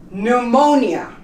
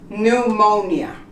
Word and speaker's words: pneumonia: not pronounce the P pneumonia you don't pronounce the pee pneumonia okay those are some